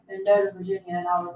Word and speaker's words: Mendota: Mendota, how do you say it? Is that how you say that? That's right. Mendota, M-E-N-D-O-T-A, Virginia.